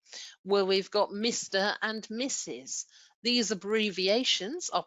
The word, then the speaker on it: Mr.: and Mrs. These abbreviations are pronounced as Mr.